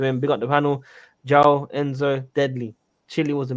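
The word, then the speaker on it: João: Joao. Yes, thank you. Carry on. But sorry, continue. It's Joao.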